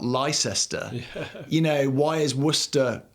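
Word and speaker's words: Leicester: totally baffling to foreigners why do we say why is leester not Lester you know why is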